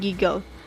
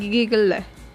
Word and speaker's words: giggle: Anytime there is a consonant-LE, the E is usually not pronounced. For example, the words cuddle and giggle. These words are pronounced as cuddle and giggle and not cuddle and giggle. As you can hear, the E is not pronounced.